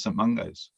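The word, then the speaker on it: St Mungo's: me recently and uh they kept calling it a mouse um and i have to explain how to say it um but um basically i don't think i heard anyone say some mungos and the actual answer is some mungos so despite the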